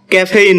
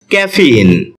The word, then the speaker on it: caffeine: এটাকে আমরা ক্যাফেইন বলে থাকি, যার সঠিক উচ্চারণ হচ্ছে ক্যাফিন।